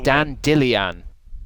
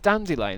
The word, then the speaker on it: dandelion: He says, "Dan Dillian." What? Instead of dandelion, he says Dan Dillian.